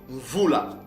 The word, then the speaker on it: Mvula: Alors ce mot-là, c'est prononcé Mvula.